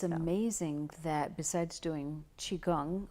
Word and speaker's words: Qigong: amazing that besides doing Qigong a chi gong I guess there's a few different pronunciations you are using the